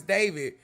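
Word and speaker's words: d4vd: It's pronounced I mean Yeah. Yeah. Yeah. I I know. I know it's David, but I was literally reading it.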